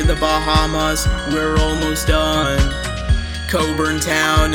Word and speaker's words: Cockburn Town: Bahamas we're almost done Coburn town is how you pronounce the capitals name spreading across to Grand